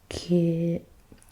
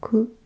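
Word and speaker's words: 九: So you pronounce this kyu or ku or kokono, kokono, kokonotsu, kokono. Okay, so this is the number 9.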